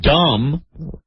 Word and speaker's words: dumb: The B in dumb is silent.